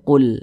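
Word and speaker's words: قُلْ: qitalun fihi kabirah kemudian di sini ada huruf lam sukun berarti menjadi l qu ditambah l dibaca Qul Nah sudah Kami jelaskan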